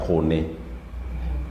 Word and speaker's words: kone: Kone. Kone and corn. It is basically corn and kone. In English, it's pronounced as corn, but in the Luo, it is kone.